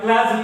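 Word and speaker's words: clergy: ই আর জি ওয়াই ক্লাজি এখানে আর এর উচ্চারণটা সাইলেন্ট হবে ক্লাজি তারপরে কাস্টমস সি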